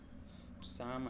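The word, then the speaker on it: psalm: में P silent है, पाम में पी साइलेंट है, साइकोलॉजी में पी साइलेंट है। इन तीनों को आपको अच्छे से याद करना, ठीक है। निमोनिया है, साम है और साइकोलॉजी, ठीक है।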